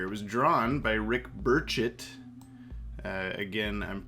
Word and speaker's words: Burchett: burchett uh again i'm we're pretty sure that's how you pronounce his name now because uh the justice league adventures guys on our live stream pronounced it that way even though we've been saying burchette for forever uh i look forward